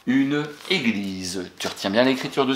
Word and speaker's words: église: Et le S entre deux voyelles se prononce Z, bravo. Une église.